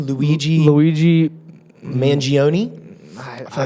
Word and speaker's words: Mangione: How do you pronounce his name? Luigi Mangione.